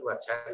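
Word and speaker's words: وجهاً: Wajhun, wajhan, wajhin. Wajhun tidak ada ditambah wawu juga tidak, tambah alif juga tidak, ya juga tidak. Wajhan ditambah dengan alif tetap dibaca han.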